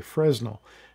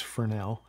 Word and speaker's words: Fresnel: You'll hear people pronounce the S, say Fresnel. That's really not the right pronunciation. The name Fresnel is named after a man whose name was Fresnel, and he invented the